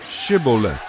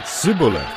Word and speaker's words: Shibboleth: they would tell him to say Shibboleth if he was from ephraim he would say sibilant because people from ephraim cannot pronounce the word correctly then they would take